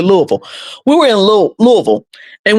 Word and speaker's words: Louisville: We was coming from uh we was in uh Louisville. It's pronounced it's it looked like it's Louisville, but they say Louisville, so we're going to say Louisville.